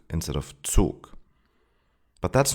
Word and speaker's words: Zug: For example, so instead of Zoo or Zug instead of Zug. But that's not correct. The German Z is always pronounced ts.